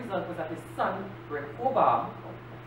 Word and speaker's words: Rehoboam: The end result was that his son, Rehoboam, that's how you pronounce it, became the most violent ruler ever,